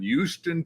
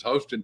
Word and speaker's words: Houston: to meet down in Houston, Texas, which some people mispronounce as Houston, Texas.